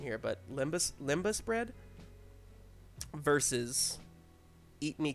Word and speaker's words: lembas: um and graham's gonna correct me on uh pronunciation here but limbus limbus bread versus eat me cookies eat me cookies lembas no question okay explain yourselves cookies taste good